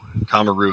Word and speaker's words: Kamaru: Kamaru is the true pronunciation, but he's in the Anderson Silva trajectory.